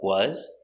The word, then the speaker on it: was: Remember, was has a zebra sound. Z. Was. Not was, but was. Was he.